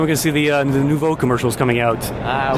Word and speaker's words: Neuvoo: How do you spell it? It's Neuvoo. Neuvoo.